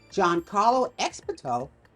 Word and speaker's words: Giancarlo Esposito: Giancarlo Esposito played a villain. I'll let you see who it is. Yeah, that's how you pronounce his name.